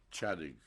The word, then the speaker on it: Ciodyk: mister could you spell your current name and pronounce it for me chadwick c i o d y k and what